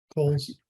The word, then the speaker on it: Kohl's: Oh, and I keep getting the name wrong. It's not, is it Kohl's or Kroger? Coles.